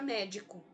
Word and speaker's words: médico: palavra para o início, eu tenho o co como penúltima sílaba, o di como o co como última sílaba, o di como penúltima sílaba e o me como antepenúltima sílaba.